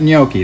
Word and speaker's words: gnocchi: know you know well you'll see how it's spelled here in a minute but gnocchi that's how it was pronounced ultimately these are little